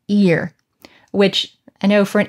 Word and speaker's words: ir: yod and r, or we pronounce these today as ear, which I know for